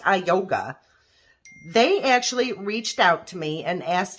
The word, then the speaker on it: IUGA: So, or I yoga, I think it's pronounced I yoga.